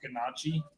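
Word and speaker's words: gnocchi: It's pronounced ganachi.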